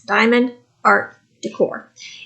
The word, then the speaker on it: Diamond Art Decor: look at it because I always want to say it wrong it's Diamond art Decor if you hear a